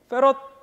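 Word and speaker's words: farad: 이거를 F라고 쓰고 대문자 F로 쓰고 페럿이라고 읽습니다. 페럿.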